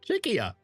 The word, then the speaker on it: Czechia: And I've learned how to say it. Czechia. Not what I used to say.